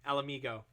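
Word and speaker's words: Ala Mhigo: Or Alamigo. Yes. Hey, you got it right without prompting. I'm going to forget how to pronounce it again.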